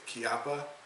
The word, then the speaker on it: Chiappa: revolvers however when I do shoot revolvers it's kppa how you say it Frank kppa rhino kppa rhino okay great great pistol definitely like it